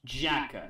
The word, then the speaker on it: J.A.K.Q.: And yes, it is pronounced J.A.K.Q. That's how the singer says it in the opening, so that's how I'm saying it.